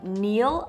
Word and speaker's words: kneel: was also the verb to kneel a verb with a silent k which means to get